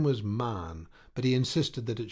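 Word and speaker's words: Mahon: snow white long beard and his name was marn but he insisted that it should be pronounced man he was well connected yet there was something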